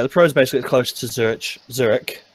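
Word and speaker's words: Zürich: So yeah, the pros basically close to Zurich. I need to stop pronouncing the ch because I'm doing Zurich.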